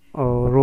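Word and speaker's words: rho: है, रो, ठीक है, इसे हम रो प्रोनाउंस करते हैं और लिखते आर एच ओ से है, आर एच और ओ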